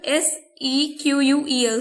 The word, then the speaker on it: SQL: query language that is s e q u e l c it is also pronounced as sequel simple english query language